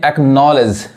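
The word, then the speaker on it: acknowledge: यहाँ देखिए एक्नॉलेज, एक्नॉलेज यानी सी के बाद से क्या आ रहा है सी साइलेंट हो गया, तो एक्नॉलेज मतलब क्या होता है मान लेना या स्वीकार करना।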